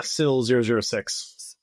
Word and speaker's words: SIL-006: How do you pronounce that? Yeah, SIL 006.